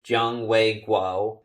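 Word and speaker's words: 蔣緯國: Chiang Wei-kuo's name was actually pronounced Jiang Wei-kuo, but I'm pronouncing the names of the Chiang family members the way they're typically pronounced in English sources.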